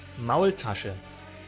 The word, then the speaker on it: Maultasche: How do you pronounce it? Maultasche. Ah, Maultasche. Maultasche. Maultaschen.